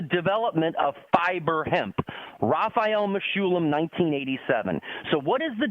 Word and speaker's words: Mechoulam: Yeah, I'll spell it so everybody knows. It's Mechoulam.